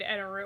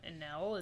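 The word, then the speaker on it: エネル: And I enjoyed Enaru, or, like, if you're an English speaking, if you're a dub watcher, they call him Enel, is that Enel, right? yeah. But in the Japanese, the pronunciation definitely comes out Enaru, so that's how we say it.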